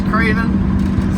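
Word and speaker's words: Kravin: name my name is Craven k r a v i n like craving except for without the G and spelled with a K instead of a c I am craving a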